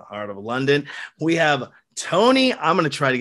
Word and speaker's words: Tony: We have Tony. I'm going to try to get this Rakaupai. How do you pronounce it?